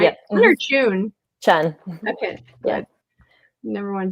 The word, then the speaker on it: Chun: Chun.